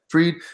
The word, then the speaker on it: Fried: Fried.